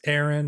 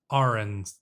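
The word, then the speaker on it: Arryn: throne also I know I do call it house Ain instead of house Aaron and that's because I read the books first and well you have to make up your own pronunciations for these things and frankly I think house Arn sounds better and honestly fits the way that it's spell a lot better as well so uh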